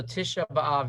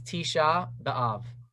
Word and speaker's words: Tisha B'Av: So Tisha B'Av is the correct. When you read it, when you say it faster, it's Tisha B'Av. Okay. But it's Tisha B'Av. That's the perfect, correct Hebrew pronunciation.